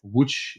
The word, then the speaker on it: Łódź: We're excited to welcome back a city that we've already talked about in the podcast, if you recall, the city of Łódź in Poland. Perfect pronunciation.